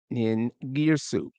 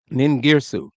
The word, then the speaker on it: Ningirsu: And this would be a particular deity which was popular in Lagash, which is Ningirsu or Ningirzu. Ningirsu.